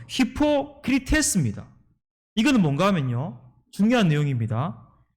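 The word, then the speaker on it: ὑποκριτής: 외식하는 자, 이 헬라어 발음은 뭔가 하면요, 히포크리테스입니다.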